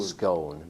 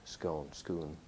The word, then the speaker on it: Scone: It's written Scone, but they pronounce it Scone.